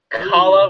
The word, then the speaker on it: Khala: So, there are signs that say, there's a sign that says Goranike, Kongamatu, Kala, which is spelled Khala, Linorms, Nikars, Peludos, Pseudo-Dragons, Skitalises, Sea Serpent Aquarium, Tatzelworms, and Vishaps.